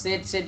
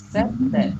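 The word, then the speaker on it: sad: হচ্ছে সেই স্যাড বলা আবারও সেট বলতেছেন আপনারা এটা হবে সেই হ্যাঁ সেই স্যাড বলা সেট না স্যাড বলা ভেরি নাইস এখন বলবো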